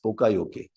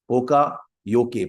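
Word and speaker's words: poka-yoke: of our now there is one important lean concept we call it as pokayoke poka yoke pronounced as poka yoke or written as ke but no it's pronounced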